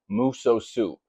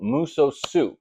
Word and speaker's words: Musosoup: And today we are talking about muso soup. Not miso soup if you like Chinese food. But no, muso soup. That's muso and soup spelled like soup. S O U P.